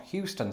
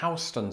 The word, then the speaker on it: Houston: And that's because it was recently brought to my attention on Twitter that this is pronounced not Houston Street, but Houston Street.